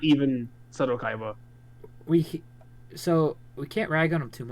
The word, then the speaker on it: Kaiba: It's Kaiba, you fool. Kiba. Sorry. That hurt my soul. Kiba. I'm still tired. It's an I.